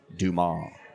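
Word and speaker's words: Dumas: damn it's one of my favorite books it's pronounced dumal Oh I thought you meant um Monty krisco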